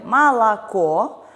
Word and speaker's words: молоко: Например, в слове «молоко» у нас безударные «о» подвергаются редукции и произносятся как звук «а».